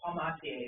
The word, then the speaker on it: Palmatier: Yeah, if you say it like the French, Palmatier, it's easier to spell.